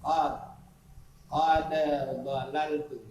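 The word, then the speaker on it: قد ضللت: Qad dalaltu, ini idgham mutaqaribaini, idghamul mutaqaribaini, qad dan bo, qad dalaltu, itu tulisannya, bacanya qad dalaltu, dalnya didegangkan kepada do, karena ini mutakarin, berdekatan dia, berdekatan sebutannya.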